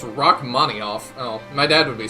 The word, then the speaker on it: Rachmaninoff: By the way, Rachmaninov is pronounced Rachmaninoff.